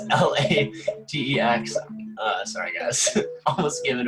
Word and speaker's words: LaTeX: to debate you and tell you that it's pronounced LaTeX. But I think if you go on Wikipedia, there are both pronunciations are there. But I believe the original founders wanted it to be called LaTeX.